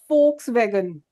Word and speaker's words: Volkswagen: So that's why this is called as folkswagen and in German we say F instead of V.